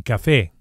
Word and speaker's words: café: A coffee is un café. Un café. and we emphasize the e vowel on account of the accent, which indicates the stress, the strong syllable, un café, and not café, un café.